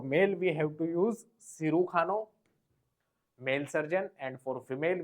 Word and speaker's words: cirujano: Then next is cirujano means surgeon. Cirujano. J is pronounced as K.